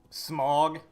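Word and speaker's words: Smough: Smog. Yeah, that's how it's pronounced.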